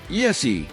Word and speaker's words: ESEE: ESEE, pronounced "ee-see", stands for Escape, Survive, Evade, and Escape.